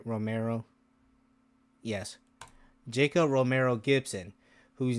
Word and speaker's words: Romero: Romero.